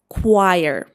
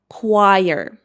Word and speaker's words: choir: How do I pronounce it? It is choir. choir.